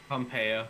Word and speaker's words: Pompeo: Is that how you pronounce it? Pompeo.